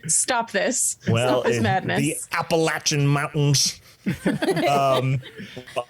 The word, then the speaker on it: Appalachian: appalachian mountains um but i pronounce it apple because there's a a in it um but as opposed to the way okay there's an a not an ah we play d d